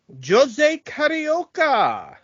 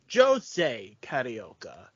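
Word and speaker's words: José Carioca: to ignore it but Jose is the Portuguese pronunciation and he is Brazilian and he does speak Portuguese Pito is Mexican he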